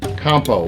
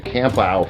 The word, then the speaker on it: Campau: my first encounter with Campo which I believe is the right pronunciation of your last name that is correct okay I called you camp out for years and I'm sorry about